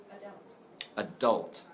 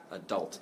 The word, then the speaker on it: adult: And how to pronounce the word adult? Adult. Okay? Adult has two different possible pronunciations. My pronunciation in America is where the stress is on the second syllable.